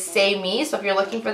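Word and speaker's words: Saime: person sorry anyways so the phonetic spelling is say me so if you're looking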